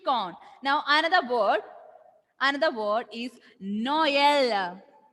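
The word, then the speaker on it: Noël: Now, another word is Noel. Noel. Noel means Christmas. Christmas. Christmas. Noel.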